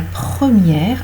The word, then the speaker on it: première: Ensuite, le E est prononcé s'il y a 2 consonnes avant ou s'il y a 2 consonnes qui n'appartiennent pas au même mot. Par exemple, c'est la première à être venue chercher le petit chien. C'est la première. Première, vous avez 2 syllabes. Et dans première syllabe, vous avez le E, d'accord, suivi, voilà, le E qui suit en fait 2 consonnes, P et R, première.